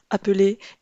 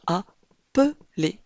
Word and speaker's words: appeler: On prononce bien appeler et non appel.